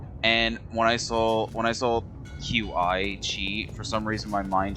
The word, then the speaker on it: qi: I think that's pronounced key. Chi.